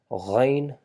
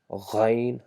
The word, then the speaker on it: غ: And finally we learned ghain, that is produced by vibrating the throat and trying to produce the sound G, g sound by vibrating the throat a little bit. Ghain, ghain. That's how you produce the sound ghain.